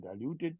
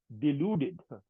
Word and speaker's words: deluded: pronouncing it WR I you saying diluted no deluded deluded you I beg you